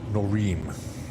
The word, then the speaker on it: Norin: It's pronounced Norin. Ah Norin. Norin. Yes.